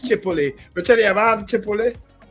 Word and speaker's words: Chipotle: I pronounce the T. You say the T is silent. Okay. I learned something. No problem. Chipotle. So it's Chipotle.